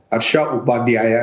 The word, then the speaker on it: हर्षा उपाध्याया: करें कैसे लिखें ठीक हमने आधा सही है आधा गलत है हर्षा उपाध्याया है सो उपाध्याय हो गया